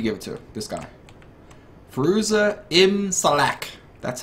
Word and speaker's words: Ferooza Ibm Salack: Ferooza Imb Shalack.